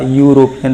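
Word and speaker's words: European: हमारा वॉवल है, एंड लेकिन हम इसका जब प्रोनाउंसिएशन की बात करें, उच्चारण की बात करें, तो ये होता है आपका या, दैट मीन्स या, यूरोपियन।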